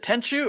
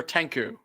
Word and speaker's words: Tenchu: Okay, but is it Tenchu or Tenku? That one I always says Tenchu. Yeah, I always knew it as Tenchu.